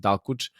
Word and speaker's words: Dalkuç: The ending can mean S in Turkish for audience that doesn't know. So I pronounce it Dalkuç.